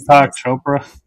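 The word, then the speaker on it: Deepak Chopra: I can't Deepo Chopra.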